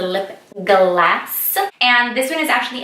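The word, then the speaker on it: Lipglass: I'm so excited because I love MAC lip glosses so much. And yes, I'm pronouncing it right. It is not lip gloss, it is a lip glass.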